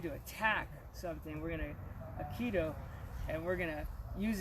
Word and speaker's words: Aikido: Aikido, Yeah, Aikido.